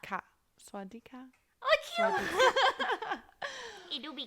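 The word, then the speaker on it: สวัสดีค่ะ: Swaliha? ส ว ั ส ด ี ค ่ ะ Swalgi? It's like swat Swad D di ค ่ ะ ka. Swadika?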